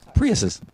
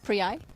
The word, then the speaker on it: Priuses: Here's this is totally undog related, but how do you say multiple Prius? Priuses. Priuses, not Prii.